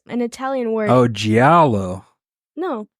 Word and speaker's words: Giallo: Oh, Giallo. No, you don't pronounce the L's, I don't think. Yeah, it's Giallo.